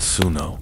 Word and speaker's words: swnw: They send for the SWNW. SOH, pronounced suno, is the physician, but he is far more than that.